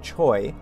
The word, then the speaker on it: Choi: child next we have someone by the surname of trey or the english pronunciation choi he's 26 years old